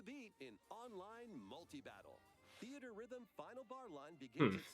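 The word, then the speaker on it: Theatrhythm: series with the latest theater rhythm game that's how you say it theater rhythm enjoy iconic it was just theater rhythm why did they get rid of the e between the h r 385 songs total songs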